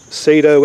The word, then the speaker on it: Saito: dirt-cheap has a 120 sato engine I guess it's pronounced Sato s aito which are very popular